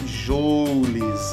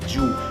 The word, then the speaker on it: Joule: O mundo inteiro, por causa dos americanos, lê Joule, ok? Todo mundo fala Joule, mas a pronúncia correta é Joule.